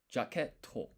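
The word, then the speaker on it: ジャケット: So it's actually you don't pronounce this. The point of this is to say that this to is actually with two T's, not one. It It's almost like a brief pause.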